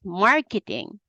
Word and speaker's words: marketing: hear haah we need there has to be one syllable that's longer than the other ones this one is marketing marketing almost K is not even K C marketing marketing marketing I didn't